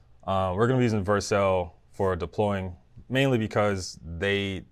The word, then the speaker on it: Vercel: I don't know if you pronounce it Vercel or Vercel, but I think it's Vercel. So I talk to them a lot, and they always say Vercel. So I'm gonna say Vercel.